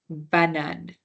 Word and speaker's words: banane: So the last E is not pronounced. This one might be easy for us to remember because it's just like banana, but just banan because the A is an E at the end. So banan, right? That's how it's pronounced.